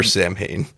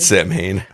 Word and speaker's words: Samhain: Or Samhain, if you listen to the way Dr. Loomis pronounces it in Halloween 2. Samhain. But he pronounces it Samhain.